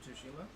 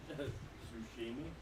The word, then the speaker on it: Tsushima: I was all like, I totally need to get Bash to pronounce that. Ghost of Tsushima? Yeah. Sushimi. Sushimi. Yeah, that's what I thought it was too. No, because it's I saw it Tsushima.